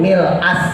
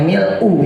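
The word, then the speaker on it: مِلْءَ: Tapi umumnya orang udah pakai mil'u ya. Ya udah nggak apa-apa lah. Sebetulnya kalau cara bacaan secara bahasa Arab ya itu jadi nasab di situ, bukan jadi rofa. Tapi ya udah, saya sendiri pakainya mil'u kok.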